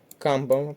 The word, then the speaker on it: камбала: якраз в інших словах камбала перший склад не підходить завдання другий